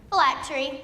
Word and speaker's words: phylactery: as a representative of Virginia your word is phylactery phylactery am i pronouncing this correctly yes thank you may I